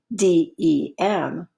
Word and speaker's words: dem: For example, the word democracy looks like it has the prefix DE, pronounced D. But if you go over one more letter, you will see that the actual prefix in this word is DEM, pronounced dem, which means people.